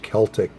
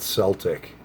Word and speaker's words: Celtic: And the first time I did a review on this, one of my subscribers said it's pronounced Celtic, not Celtic.